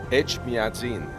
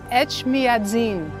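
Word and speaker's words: Etchmiadzin: Echmiadzin. Echmiadzin.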